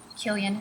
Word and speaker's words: Killion: Killian spelled like million, but with the K.